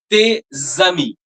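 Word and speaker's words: tes amis: Your friends, te zami.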